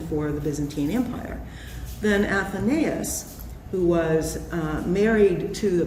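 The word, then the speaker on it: Athenais: And Faith, in Rebel Empress, when you're talking about your lead, who is it pronounced Athenaeus? Athenaeus, thank you.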